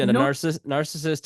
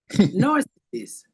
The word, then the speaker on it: narcissist: Usually, narcissist is pronounced ex-husband. Narcissist.